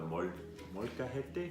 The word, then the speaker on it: molcajete: And you're adding it to the molcajete?